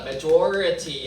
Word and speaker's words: majority: Majority 하시면 되죠. 이거를메리티 하시면 안 돼요. 발음 달라집니다.